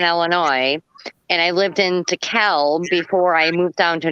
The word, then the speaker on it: DeKalb: And it was just hilarious to me that they wanted to punish him because he pronounced it as DeKalb, because there's an L in there.